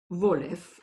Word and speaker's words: Wolf: Someone snickered, and Wolf, Wolef, according to the Yiddish pronunciation, demanded silence with an irritated gesture.